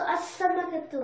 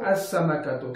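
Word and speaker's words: السمكة: Because if it is a sun letter, then you should not pronounce the lam in an. Okay. Also, as-samakatu. As-samakatu.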